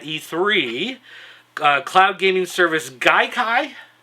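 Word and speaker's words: Gaikai: uh cloud gaming service Guai I believe is how it's pronounced uh they said that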